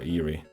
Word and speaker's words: Erie: Oh, that's airy. Okay. Or eerie. I should really call it eerie, shouldn't I? Cuz it's going to be weird. But that the way that's spelled it is should be pronounced airy.